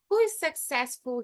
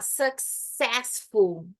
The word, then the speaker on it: successful: entenderem S então Ó successful então a tônica forte no c n success e todas as variações